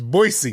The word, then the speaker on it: Boise: It's not Boise, it's Boisey.